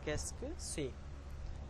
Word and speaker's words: qu'est-ce que c'est: The pronunciation of this sentence is qu'est-ce que c'est.